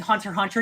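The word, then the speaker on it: Hunter × Hunter: As someone who's watching Hunter x Hunter, you don't pronounce the X.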